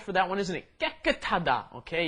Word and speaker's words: 깨끗하다: 깨끗하다. Okay, you got to get both of those 쌍기역 in there. Got to 깨끗하다.